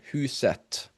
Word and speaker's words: huset: When it comes to the T at the end of the word, your rule of thumb here is that you always say the T, except if it is is a neuter noun, right? A noun that starts with et, and in singular definite form. For example, huset or projektet.